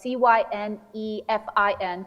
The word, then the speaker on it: Cynefin: It's a Welsh word, which is spelled Cynefin, Cynefin.